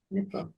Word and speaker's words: Nipah: Regarding the Nipah virus? Yes. And Well, spell it for me.